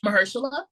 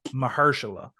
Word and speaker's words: Mahershala: um Michelle how do you say his name Marshall mahershala um first of all they wasted him in